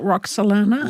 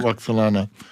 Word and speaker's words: Roxolana: Oh, Roxolana. Roxolana.